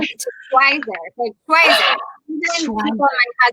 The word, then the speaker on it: Schweizer: So Schweizer it is. Schweizer.